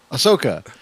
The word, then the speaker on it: Ahsoka: so i can get it right that's okay ahsoka yeah so we see ahsoka she's like i